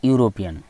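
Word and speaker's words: European: পরের question, he is dash ইউরোপিয়ান, এটা কিন্তু একটা ব্যতিক্রম রুলের মধ্যে পড়ছে। এটা হচ্ছে কি ভাওয়েল দিয়ে শুরু কিন্তু হয়ে গেল কি ইউ, তাই কি হবে এ ইউরোপিয়ান হয়ে যাবে, ঠিক আছে।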